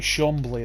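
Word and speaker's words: Chambly: bleah effects French yeah they play in the French league so it will be Shambhala then because that's how they pronounce that once it gets to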